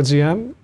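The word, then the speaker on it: Diệm: not happy with ZM I say ZM you say DM that's okay uh you pronounce it a little bit better yeah um because I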